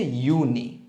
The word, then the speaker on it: Juni: তারপর এপ্রিল, মাই, জুন হচ্ছে ইউনি, আবার জুলাই হচ্ছে ইউলি, আগস্ট, সেপ্টেম্বর, অক্টোবরে কা, নভেম্বর, ডিসেম্বর, সেট।